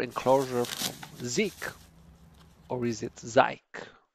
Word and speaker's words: Zike: it be turns out I had to ask them how to pronounce it and surprise it's Z so here's the deal